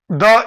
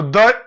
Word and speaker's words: the: हो तो उसके पहले द यूज किया जाता है। कंसोनेंट लेटर से जब शुरू होता है तो द यूज किया जाता है प्रोनाउंसिएशन में, और वॉवेल लेटर से शुरू हो तो दी यूज किया जाता है।